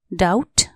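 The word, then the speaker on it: doubt: एस T trust शंका डाउट डी ओ यू बी टी डाउट यहां B silent D ओ यू बी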